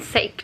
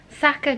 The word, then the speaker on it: Saka: They did teach me how to say it. I keep saying sake Japanese. It's... For fuck's sake. Saka Japanese restaurant.